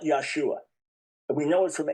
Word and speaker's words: Yeshua: Not Yesua, but Yeshua. That's first thing.